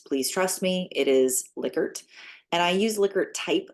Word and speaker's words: Likert: are going to hear people call it a ler type scale or a liyer scale and I use liquer because Dr licker pronounces it that way uh and or pronounced